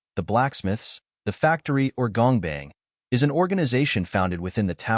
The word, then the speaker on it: Gongbang: The Workshop, pronounced Gongbang, literally meaning workshop, also referred as the Creation Room, the Blacksmiths, the Factory, or Gongbang, is an organization founded within the tower by the great Father Maxeth.